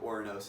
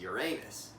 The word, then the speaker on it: Ouranos: The other pronunciation of Ouranos is Uranus, but I think I'm going to use the former for this video.